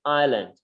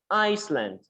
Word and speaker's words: island: guys guys go ahead island good uh what i would like to tell you there is letter s here inside right but we do not pronounce we just say island someone say iceland when you say iceland